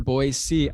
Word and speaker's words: Boise: I encourage all of them to really join us on November 9th in Boise, Idaho. I think that's how you pronounce it. Very good, Boise.